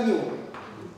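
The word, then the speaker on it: ν: И вот это вот читается как ню.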